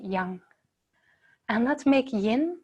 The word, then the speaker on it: yang: young rising okay and you say yang in the West Chinese way we pronounce it young and let's make Yin